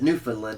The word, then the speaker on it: Newfoundland: Newfoundland, but it's Newfoundland is how you pronounce it. Newfoundland. It's spelled like Newfoundland, but you pronounce it Newfoundland.